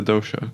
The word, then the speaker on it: dosha: they were able to identify exactly, am I pronouncing this right, the dosha?